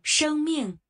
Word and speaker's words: 生命: I always thought it's pronounced Sheng. Sheng Ming. Let's listen. Sheng Ming. Sheng Ming. Okay. I actually had a wrong pronunciation.